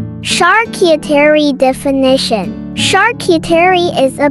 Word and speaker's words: charcuterie: called a shark eater the English pronunciation of charcuterie varies slightly from the original French the correct French pronunciation of charcuterie is charcuterie thank you